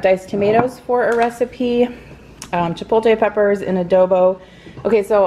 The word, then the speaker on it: chipotle: now Chipotle I think I say to pull teh and I think that's wrong I think it's Chipotle so I'll try I'll